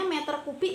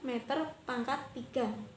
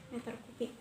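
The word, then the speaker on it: m³: Nah, ini membacanya meter kubik ya anak-anak, bukan meter pangkat 3, meter kubik.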